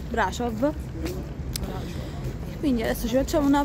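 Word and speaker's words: Brașov: mi ricordi i nomi Brasov che si pronuncia Brasov perché la s è quella strana e si pronuncia Brasov Quindi adesso ci facciamo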